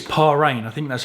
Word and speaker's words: Paragn: I think it's Paragn.